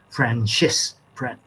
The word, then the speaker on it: Francesca: I think Francesca is a perfectionist. Yeah, because she doesn't make many mistakes. It says rarely. And by the way, that's an Italian name, so we should pronounce it Francesca.